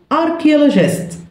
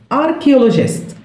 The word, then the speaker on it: archaeologist: عالم آثار archaeologist archaeologist archaeologist هنا ال H مش بنطقها silent archaeologist.